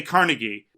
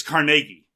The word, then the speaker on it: Carnegie: Apparently, if you're in the know, despite the fact that people do say Carnegie, it's Carnegie.